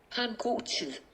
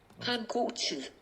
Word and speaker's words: Ha en god tid: Ha en god tid. Ha en god tid. That sounds nothing like it's spelled.